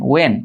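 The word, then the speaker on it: when: এটা উচ্চারণ হচ্ছে হোয়েন না ওয়েন, ঠিক আছে, এটা উচ্চারণ কি ওয়েন, এটা হচ্ছে ওয়ার, এটা হচ্ছে ওয়াই, এটা হচ্ছে হাউ।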